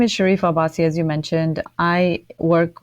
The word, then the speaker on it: Sharifa Abbasi: And Sharifa Abbasi. Yes. Saying that right too? Yes.